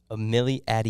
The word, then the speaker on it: Amilliatelier: want to mess it up how do you pronounce it it's a Millie Adie Amelie Adie yes sir Millie Eddie I was definitely gonna